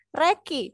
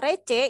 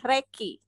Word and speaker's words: recce: itu bisa disebut dengan Reki Jadi kalau Harun tadi bilangnya receh itu sebenarnya salah tulisannya adalah benar tulisannya recce Tapi bacanya adalah Reki ya Jadi besok kalau